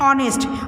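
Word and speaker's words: honest: क्योंकि एच की जो साउंड है ना ये साइलेंट है और ओ से शुरू है, ऑनेस्ट, ओ से हम इसकी साउंड कर रहे हैं, मतलब ओ होता है इसमें वावल, तो इसलिए एन ऑनेस्ट।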